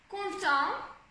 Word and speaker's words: content: et, comme ça, et, content, content, on, donc encore le on, content, là c'est le en, donc le en, c'est souligné comme ça, content. Donc on a deux sons nasaux dans le même mot, content.